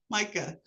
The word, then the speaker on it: Micah: Micah, got it. Like microphone.